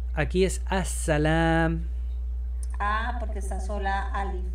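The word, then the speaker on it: السلام: Aquí es as-salam. Ah, porque está sola alif aparte. As-salam. La L no se pronuncia porque hay una regla especial donde la S se come la L.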